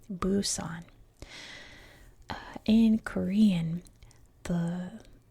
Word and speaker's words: Busan: Now, number one is that I always pronounce places around the world in their American English version, right? So that everything is uniform. And in American English, it is buson.